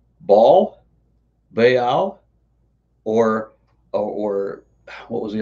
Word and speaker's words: Baal: it today is usually Baal. It's usually what I hear, which I mean, is absolutely fine. The way that you would read that in Hebrew, at least, would be Baal.